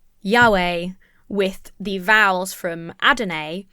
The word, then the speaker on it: Yahweh: all kinds of wrong so linguists and historians think that is most likely pronounced the ways that we commonly pronounce it Yahweh or Yahweh so where does Jehovah